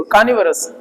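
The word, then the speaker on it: carnivorous: तो बोलने से पहले क्या है, इनको भी देखो, कानिवरस, वोरस नहीं होता है, कानिवरस, दोनों आर साइलेंट है, कानिवरस।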